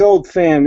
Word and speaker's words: Oldphan: It's Old Fan. It's spelled with a P, so it's OLDPHAN.